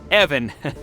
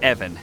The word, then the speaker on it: Ivan: of questions ask away Evon it's it's pronounced evan with a short guttural i wanted to ask if